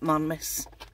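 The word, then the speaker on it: Marymass: festival and it's called it's spelled Mary mass m a r y m a WS but we call it mmus and it's all based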